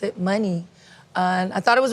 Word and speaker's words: Muni: at the time they were like you should pronounce it money and I thought it was really cool I